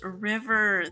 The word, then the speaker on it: River: Your name is pronounced River. Thank you for correcting me. I appreciate it. What did I say? River? Oh my gosh. Alright. I'm gonna remember to pronounce it River.